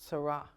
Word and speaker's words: Sara: sin ra and it's pronounced sarah okay as our names are so out